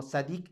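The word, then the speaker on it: צדיק: Porque así más o menos se escribe en en hebreo, pero se pronunciaría algo más o menos así, sad con doble d como sadic y al final sadic.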